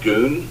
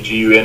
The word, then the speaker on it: gun: made the same mistake it's called goon not gun I English speaking people see gun and they think gun